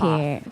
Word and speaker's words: Hartkopf: The P is silent, so silent P. Hartkopf.